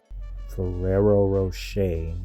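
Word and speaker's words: Ferrero Rocher: So, Ferrerero Rocher is what it's pronounced.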